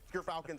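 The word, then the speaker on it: Gyrfalcon's: But Gerfalcons, everyone, so anyone who mispronounces it, that's how you say it.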